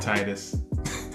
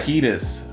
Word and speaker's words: Tidus: I was gonna say, like, it's obviously Tidus, like, for both of us, right? Yeah. But other than Tidus. Yeah. Or Titus. It's right. Tidus. It's Tidus. Okay. It's Tidus. It's tedious to pronounce.